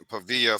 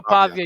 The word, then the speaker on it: Pavia: He said um Diego Pavilla for Heisman. Pavilla. Pavia. Hey man, Diego Pavia.